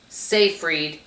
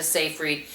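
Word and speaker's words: Seyfried: It has uh Amanda Safereed and I looked on how to pronounce that last name. According to what I looked up, that's her name. Amanda Safereed.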